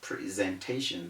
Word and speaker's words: presentation: rule to use but the correct thing to say is presentation this is ipa pronunciation